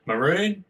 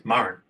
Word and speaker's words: Murrin: We like to pronounce it Maroon as Westerners, often liking to whack a bit of emphasis somewhere, but the old word is Murrin, which is Goanna.